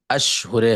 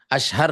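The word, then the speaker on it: أشهر: इसका जो प्रोनाउंसिएशन है वो है अशुरे हज। अशुर अशहर नहीं। अशहर मतलब मशहूर होता है। अशुर मतलब होता है महीने।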